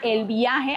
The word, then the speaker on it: El Byahe: Esta agencia se llama El Viaje, aunque se escribe así, como lo ven.